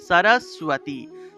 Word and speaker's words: সরস্বতী: এখানে উচ্চারণটা চলে আসে তাহলে দন্তস এর নিচে বফলা আছে তাহলে উচ্চারণটা হবে সুয় সুয় উচ্চারণটা আসবে তাহলে সরস্বতী সরস্বতী মহাভাগে বিদ্যে এখানে দেখুন